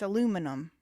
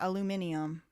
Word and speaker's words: aluminum: Um It's aluminum, not aluminium.